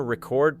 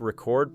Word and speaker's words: record: For example, the noun record places stress on the first syllable, while the verb record places stress on the second, and the same pattern